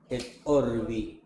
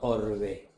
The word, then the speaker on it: orbi: Orbi, no orbe. El modus operandi sin la sirvi para para la ciudad y para el mundo. El papa da la bendición Urbi orbi a la ciudad, el Vaticano y al mundo.